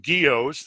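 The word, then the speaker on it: guyots: Geos, it's pronounced geos.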